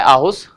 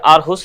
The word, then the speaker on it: आरहुस: Denmark का भी एक जो शहर है आहुस या आरहुस, इसमें आर साइलेंट भी है, कई बार बोल भी देते हैं, तो उन दोनों